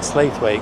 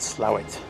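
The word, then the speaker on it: Slaithwaite: we were working we used to call it SLA weight cuz it's spell SLA weight but the uh the locals will correct you and tell you it's slow that's how they pronounce it slow it I just want to show you this car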